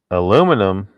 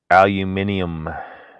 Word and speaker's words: aluminium: ironically the other day aluminum that's the way americans say it aluminium would be the proper way to say it but i was hungry